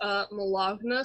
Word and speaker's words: Malagna: I still am on Instagram as Malagna, spelled like baloney, but with an M and a 0.